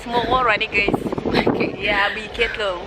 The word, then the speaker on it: Morgorwane: Morgorwane. Yes, it's Morgorwane, guys. Okay. Yeah, be careful. Yeah, here now. So I find it difficult to pronounce the name of this village, but we are in Vigeto, okay?